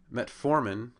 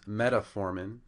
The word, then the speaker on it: metformin: are they mispronounced so first a tenolol becomes atol metformin becomes metaformin metoprolol becomes meow prolol and simvastatin becomes sasan so I found these errors